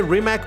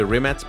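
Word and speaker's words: Rimac: the remac concept s I might say remac or remat uh technically the pronunciation should be remat but whatever this is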